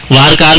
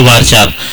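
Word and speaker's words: varchar: तो अब हम लोग ज्यादातर यूज करेंगे वारचार, वारचार, वारकार भी कहते हैं, इसको वारकेर भी कहते हैं, लेकिन फिलहाल इसको प्रोनाउंस करने का बेहतरीन तरीका क्या है? वारचार।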